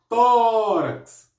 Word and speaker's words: tórax: Por que que é acentuado no tó? Porque é uma paroxítona que termina em X, uma paroxítona terminada em X. E todas as paroxítonas que terminam em X recebem acento na sílaba tônica. Então o tó do tórax é acentuado, beleza?